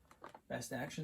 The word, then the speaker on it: BST AXN: line of action figures called Best Action BST AXN. Best Action is how it's pronounced.